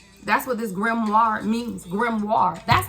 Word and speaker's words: grimoire: you're a magician that's what this grimoire means grimoire that's how you pronounce it thank you Spirit just told me